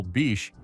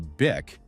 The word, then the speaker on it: Bic: He also simplified the brand name to Bic, dropping the silent H so English speakers could pronounce it easily.